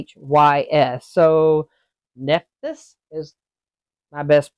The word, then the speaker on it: Nephthys: So Nephthys is my best pronunciation for it.